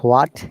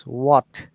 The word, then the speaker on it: what: Yeah, So remember in WH questions, except who, in every case, H or H, whatever you say, is silent. So it is not what, it is what. So that you have to what? think that there is Okay, no H.